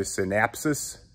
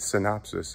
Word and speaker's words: synopsis: to give you guys a synapsis i think that's what it is right synopsis is how you say it but i like saying